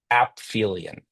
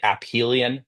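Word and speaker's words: aphelion: And when the object like a planet, right, is furthest from the sun, it's called ailion. So, like ph with an F. You can also say ahelion.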